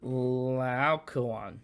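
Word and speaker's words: Laocoön: How do you pronounce it? Laocoon.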